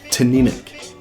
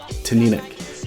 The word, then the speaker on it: Teaninich: Teaninich. Teaninich. The accent is over the middle syllable, the NI, pronounced ni, so Teaninich from the Highlands.